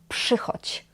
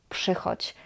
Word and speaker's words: przychodź: Here, "rz" is pronounced as sz.